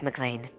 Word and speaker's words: McLean: Well, tell you what, just ask him to just say yippee-ki-yay, motherfucker, and then you know it's McLean.